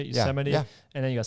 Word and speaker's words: Yosemite: Yosemite?